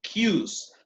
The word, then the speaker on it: queue: En inglés británico les llaman queues a las filas. Se pronuncia igualito que la letra Q, ¿no? Queue.